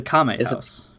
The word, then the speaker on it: Kame House: How do you pronounce Master Roshi's house? The name? The Kame House.